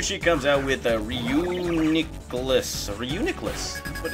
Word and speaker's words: Reuniclus: Reuniclus, that's how you say it.